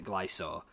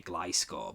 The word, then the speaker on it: Gliscor: you pronounce it I so i used to pronounce a glass or and then loads of people gave me loads